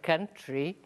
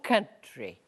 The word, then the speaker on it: country: ask you about your country. Very good. Veja a pronúncia de country. No Brasil, o povo tem mania de falar country. Não é não. É country, ok? Country, com an de manhã.